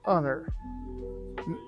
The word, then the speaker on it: honor: Sometimes H is silent as the words hour, air, or honor.